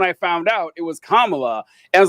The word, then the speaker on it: Kamala: I would like to go back Sorry, I was like to go back to 640 when Tweedledee corrected me on how to pronounce Kamala's name.